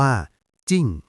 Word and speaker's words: 靜: นึง ที่ สวย มาก คำ ว่า จิ้ง อ่าน ว่า จิ้ง แปล ว่า ความ สงบ